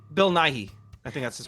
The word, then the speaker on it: Nighy: No, I believe his last name is pronounced Nighy, Nighy. Okay, got it. Yeah, it could also be Nye, but we're back on the same page now.